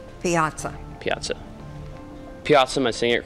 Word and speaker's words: piazza: correct look your word for this round is Piazza P as a maybe please give the definition